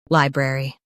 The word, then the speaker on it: library: US has bre. UK has bruh. Watch that middle sound.